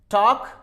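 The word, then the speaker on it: talk: टॉक, एल के बाद में के आया, वॉक, तो हम जैसा आपने देखा एल is also very important if comes before M एफ के डी।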